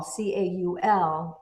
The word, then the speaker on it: caul: They said that that rose covered light cloth that covered you was called a call, Caul, and it sounds like the word is calling you, Call.